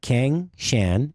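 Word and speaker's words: Cangshan: If you don't mind, folks, go to, it's C-H-A-N-G, or C-A-N-G, C-A-N-G, Kang Shan, S-H-A-N, not Yan Can, Kang Shan.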